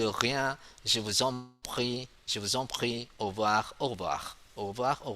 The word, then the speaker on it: au revoir: Au revoir. Au revoir. Okay, AU we pronounce O.